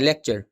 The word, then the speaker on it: lecture: डिपार्चर जैसे लेक्चर में होता है, लेक्चर तक तो पूरी आवाज आती है, आर आगे बिल्कुल सॉफ्ट सा होता है, लेक्चर।